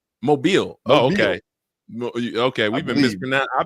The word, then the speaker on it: Mobile: So she's from where they think it's Mobile. Mobile. Oh, okay. Okay. We've been mispron I've been mispronouncing it for years.